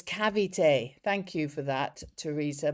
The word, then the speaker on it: Cavite: Pronounce cavite. Oh, not savite. Oh, I thought it was with a s.